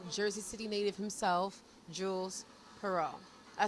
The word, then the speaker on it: Pierrot: none other than Jersey City native himself, Jules Pierrot.